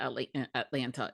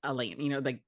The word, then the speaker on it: Atlanta: It's not Atlanta, it's Atlanta.